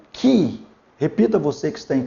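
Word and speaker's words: χ: Aqui nós temos o Ki.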